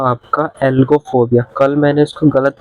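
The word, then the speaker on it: algophobia: ओ बी आई ए कल मैंने इसको गलत प्रोनाउंस दिया मैंने जी पहले प्रोनाउंस कर दिया था एल बाद में मैंने इसको एलो फोबिया प्रोनाउंस कर दिया था व मिस्टेक ठीक कर लेना आप ठीक है एल्गो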